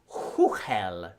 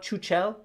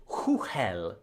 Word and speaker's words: Chuchel: Uh yes, the creators of Botanicula and Huhel, which is how the Czechs would pronounce it, which I know because I'm currently living in the Czech Republic. So it's not Chuchelle, it's Huhel.